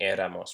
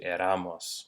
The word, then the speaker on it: éramos: our accents and again that's just word stress so we're saying éramos for preserving that tonic syllable as opposed to Aramis which is what we would have if we didn't have that accent rocky barriers to baseball